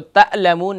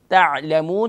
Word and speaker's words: تعلمون: تعلمون تو تعلمون نہیں بلکہ تعلمون. تھوڑا سا کنٹرول کر کے عین کو پرناؤنس کریں گے مڈل آف تھروٹ سے.